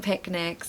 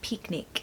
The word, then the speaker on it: picnic: the sun's out now you need to be careful with the pronunciation of this word because it is not an e sound a lot of people say picnic but it's actually a short eye so picnic stress the first